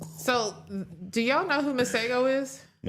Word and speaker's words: Masego: It's M A S E G O. Masego. Okay. I believe it was this week where he was performing and he basically was like, "The Americans, they're so dumb. They've been pronouncing my name wrong. It's Masah."